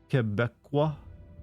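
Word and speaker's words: Québécois: It is pronounced Quebecois. You pronounce the we like Franco.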